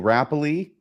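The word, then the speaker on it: Rappleye: We're going to meet Neil Rappley, which apparently is how you pronounce it.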